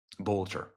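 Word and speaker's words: Boelter: Vance Bolcher. Bolcher. I'll say it correctly.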